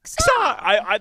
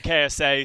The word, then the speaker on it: KSA: But I really hope that his name is pronounced like Xa. That's what I thought. But apparently Brent found out that it's actually KSA, so casters are molding.